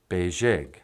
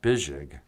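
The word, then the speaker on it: bezhig: Beijing, not Bijig. Oh, Michael, what? You got a misprint in your list here. Yeah, I know. Sorry. Okay. It's not Bijig. It's supposed to be Beijing with an E.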